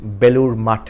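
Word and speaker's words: Belur Math: And if you Google it, Belur Mutt, Mutt means monastery. It's spelled the same way as math, M-A-T-H.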